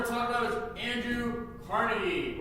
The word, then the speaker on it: Carnegie: talk about is Andrew Carnegie, or Carnegie, however you want to say it. Carnegie. It's Carnegie. No one's going to. It's Carnegie, but you can say it wrong and say Carnegie if you want.